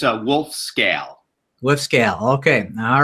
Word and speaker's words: Wolfskehl: background so that everybody know are your proper pronunciation of your name so everybody knows in your last name it's a wolf scale woof scale okay all right so I guess